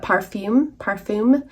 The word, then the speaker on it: parfum: I'm going to say it how it's spelled, but it may just be pronounced as perfume, but parfum, P-A-R-F-U-M, or fragrance.